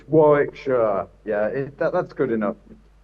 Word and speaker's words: Warwickshire: I would say Warwickshshire, but you're is Warwickshire. What is it? Where are you from? Yeah, it's it's Warickshshire.